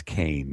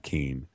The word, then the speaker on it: Kean: saying that I was saying her name wrong Leslie Kane now you know it's it's Kane not keen I wanted to uh